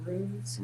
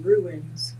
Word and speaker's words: Runes: Runes State Park. He keeps saying ruins. There's no I sir.